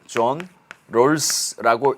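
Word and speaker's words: Rawls: 존 롤스라고 읽습니다.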